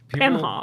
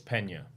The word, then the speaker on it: Pena: How do people usually say it? Penha. People say it however they want to say it, but the proper way to say it is Pena.